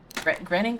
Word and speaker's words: Groening: but I really like Disenchantment, which is Matt Groening's... Groening? How do you pronounce his name?